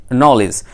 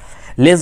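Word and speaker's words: knowledge: He goes to school to acquire নলেজ। নলেজের উচ্চারণটা আমরা বলবো নলিজ, নলিজ, ঠিক আছে, লেজ নয়।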